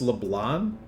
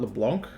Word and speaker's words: Leblanc: long hours how about Leblon is pronounced leblan not LeBlanc oh is this a